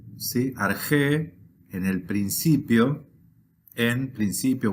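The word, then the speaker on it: ἀρχή: traducimos tal cual en al español en dice arge sí argé en el principio en Principio o en el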